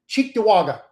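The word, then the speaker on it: Cheektowaga: And there's a place, it's it's an Indian name, so you probably wouldn't pronounce it well if if you read it. Chewaga. Okay. So, there's a place called Chewaga.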